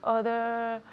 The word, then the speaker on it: other: It's that O, that first O sounds like an A.